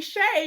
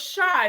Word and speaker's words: Shai: i was good until you called me shay you know it's shy like a shy person oh i'm so sorry